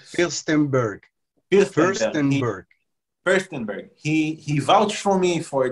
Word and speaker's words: Firstenberg: And Sam Firster, it's hard for me to pronounce the name. And Sam is Firstenberg.